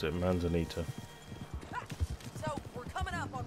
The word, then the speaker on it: Manzanita: Ah, that's how you pronounce it, Manzanita.